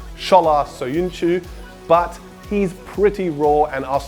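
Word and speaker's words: Çağlar Söyüncü: been linked with 21 year old Freiburg defender K glass so Yun Chu or as he's actually pronounced shala so you knew but he's pretty raw and I still have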